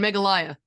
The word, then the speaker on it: Meghalaya: the m Mouse injury MGH yeah oh and meghalaya megalia thank you in Magalia India um so she co-founded the a Margaret bar Children's Village in meghalaya India with the Unitarian Union of Northeast India